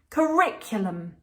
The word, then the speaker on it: curriculum: you can correct for the L flap the tongue and then we've got another lazy vowel again before the um lum curriculum curriculum curriculum so